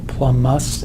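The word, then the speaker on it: plumbous: By the way, the B in plumum is silent, but because most of the nomenclature that we do is written, if you want to pronounce the B instead of plumus and plumic, okay, if it gets you to spell it right, even better.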